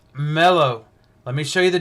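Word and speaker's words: μέλλω: here is right here right there and it's pronounced mellow let me show you the definition Strong's number 3195.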